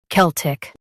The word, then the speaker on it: Celtic: Kel tic Celtic Stress Kel and keep tic soft.